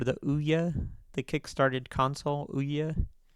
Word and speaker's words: Ouya: Ooya spelled like this.